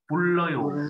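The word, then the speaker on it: 불러요: À, hai chữ L gặp nhau đọc là L thì đọc là bùn lời ổ.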